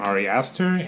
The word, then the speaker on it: Ari Aster: Midsommar is directed by, I believe this is how you pronounce his name, Ari Aster, and it is the second film that I've seen from him.